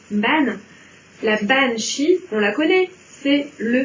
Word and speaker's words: banshee: Donc on sait bien qu'on prononce banshee et non pas bansid.